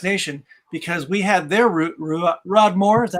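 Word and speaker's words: Ruadh Mòr: It's funny what Aaron just said, because mentioning Single Cask Nation, because we had their Rodmore, is that how you pronounce it? Yeah, Ruidmore, yeah.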